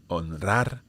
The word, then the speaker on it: honrar: So the rule is that when the R comes after one of those three letters, you have to pronounce it strong, vibrant. Okay, so Israel, honrar, enroscar, alrededor.